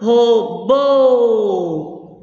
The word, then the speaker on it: robô: Robô. O bo é a sílaba forte.